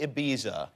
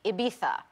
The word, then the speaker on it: Ibiza: So this movie, Ibiza, is that the right way to pronounce Ibiza? No. No. No. But it's what we say in the film. I think it should be Ibiza.